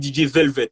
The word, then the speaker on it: DJ Velvet: On dit DJ Velvet, hein, c'est ça? Je oui, prononce bien?